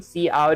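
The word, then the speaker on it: std::cout: out standard two colon see out is pronounced standard character out.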